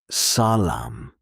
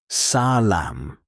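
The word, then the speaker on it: سلام: In Persian, stress usually falls on the last syllable. This is very important. If you stress the wrong part, the word may sound unfamiliar. Example, salam. The stress is at the end. Salam, not salam.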